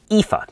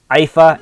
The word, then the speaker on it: Iphi: the newest unit and it's pronounced IFA not IFA and I do apologize for that uh in my um I guess quick review of Scott's live stream I did uh mispronounce the unit's name so IFA or Effie I guess that being said uh